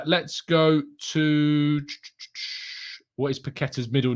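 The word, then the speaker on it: Paquetá: there you go maybe no it doesn't have an accent on the sea so it's i assume it's a hard season there you go um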